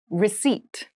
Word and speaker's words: receipt: meal room service meal receipt receipt receip receipt has a very interesting spelling there is a p in the spelling of this word but we do